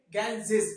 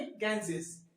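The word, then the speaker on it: Ganges: जैसे द गैंजेस, इसे हम लोग गंगा नहीं पढ़ेंगे, इसे हम लोग गंगे नहीं पढ़ेंगे, इसे गैंजेस पढ़ेंगे। क्या पढ़ेंगे, गैंजेस।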